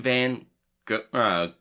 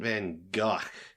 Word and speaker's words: Van Gogh: Yeah, but luckily it's not pronounced the way that the word that's spelled like that is. Yeah. Yeah, so it's supposed to be like Vincent Van Gogh.